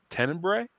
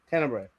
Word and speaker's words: Tenebrae: in public because I've never known how to pronounce it properly, which is Tenebrae. Tenebrae.